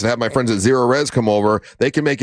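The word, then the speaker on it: Cerorez: It's Zero Res. Now it's spelled the same way forwards and backwards. It's spelled C-E-R-O-R-E-Z.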